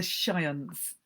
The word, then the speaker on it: Shiants: They are called the Shiants, one definite softened syllable, the Shantiles, like a sea shanty, but with the Y trimmed away.